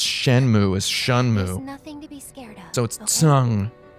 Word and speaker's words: Shenmue: you pronounce han you pinyin romanized chinese you pronounce shenmue as shunmu nothing to be scared so the fact that